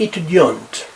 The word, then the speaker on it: étudiant: Elle est étudiante. She is a student. Il est étudiant. You don't pronounce last consonant or last T.